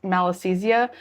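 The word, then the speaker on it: Malassezia: I think it's pronounced malisthesia.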